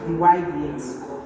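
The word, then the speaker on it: dy/dx: Now to differentiate they say differentiate this word they can say find dy dx find the y dx this is pronounced d y dx dy dx so I'm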